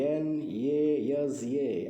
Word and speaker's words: NASA: the first letter c n a s a and pronounce it as a new word nasa this is an acronym